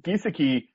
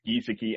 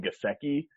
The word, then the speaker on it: Gesicki: spelled like this, and it's Gesicki, and I used to call him Gesicki, and he like got real mad at me and corrected me, and so now I pronounce it Gesicki.